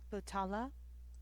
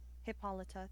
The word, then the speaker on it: Hippolita: Um, hippotala. Um, hippolita.